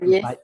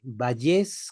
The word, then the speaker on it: Vallés: apellida Valles, Vallés con Valles acento en la E.